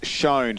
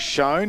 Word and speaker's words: Shown: It's shown. So let's go with that. It is shown. I was told it's like phone but with an S.